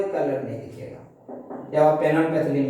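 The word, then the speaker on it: phenolphthalein: पेनोलपैथिलीन, पी है, जब देखिए पैथिलीन लिखा गया, हम लोग बोलेंगे तो पैथिलीन, लेकिन लिखाएगा कैसे, PHTH।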